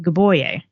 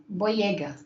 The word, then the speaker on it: Boyega: And that's actually why she didn't talk to Tade for a while, is because she was off with Gaboye. Just kind of left him in the dust. Boyega.